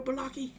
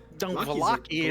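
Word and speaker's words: Vallaki: You want to go to war, Balaki? Valaki. Lucky, I'm watching you. Blinksy. It's actually Blinsky. I've been saying it wrong. Blinsky. I don't. I like Blocky. Valaki is correct.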